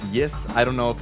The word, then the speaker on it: Ys: the guest characters uh did you say ease I think it's pronounced as Ys I did and it's